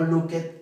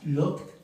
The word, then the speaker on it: looked: No was it, no help it, no watch it, no look it, no like it. Okay, de hecho eso si lo dicen suena como otra cosa. Okay, entonces es washed, helped, watched, looked, liked.